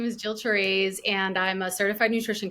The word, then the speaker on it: Therese: herself thank you yes my name is Jill teres and I'm a certified nutrition consultant and I